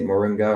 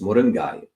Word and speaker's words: moringa: Americans may say moringa or westernist but if you put a Tamil accent it's moringai mingai um uh so